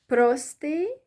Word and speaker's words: простий: Then the next word with double stress is простий, means simple, stressing the O syllable. Простий also means simple. So whether you stress the first syllable or the last one, it doesn't matter.